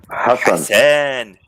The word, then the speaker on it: Hassan: Hassan. Hassan. H meaning I I got to put more breath into it. Han the H.